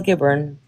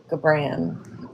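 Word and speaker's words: Gibran: My absolute favorite philosopher is Khalil Gaburn and I say his last name wrong. It's Kio Gabbran but I say I like to say Khalil Gabbr, you know it gets more fancy.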